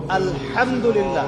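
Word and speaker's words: الحمد لله: পড়ছেন আলহামদুলিল্লাহ শব্দটা কি আলহামদুলিল্লাহ এই হা এর মাখরাজ কোথায় কন্ঠনালীর মাঝখান থেকে এখান থেকে আপনি উচ্চারণ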